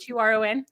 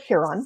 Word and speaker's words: Huron: Is that how you say it? Huron? Okay. Yep, Huron.